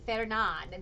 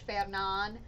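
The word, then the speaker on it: Fernand: Fernan, I think it was. I'm not saying it right. For some reason, I always want to say the D. Fernan. There we go. You're French, Fernan.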